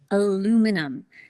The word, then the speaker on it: aluminum: Americans say it with four syllables.